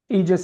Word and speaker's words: Aegis: It's called Egis Formulas and I've got I'll have that website listed. Eegis is spelled AEGIS, but um all of these products are products that are uh high-grade.